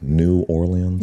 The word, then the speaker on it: New Orleans: New Orleans?